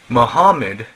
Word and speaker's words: Muhammad: 360 idols number two Muhammed Mohammed Muhammad is the original pronunciation Muhammad born in Arabia in 570.